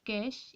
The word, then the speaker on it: cache: अ कैश pronounced कैश इज़ a small and very fast memory.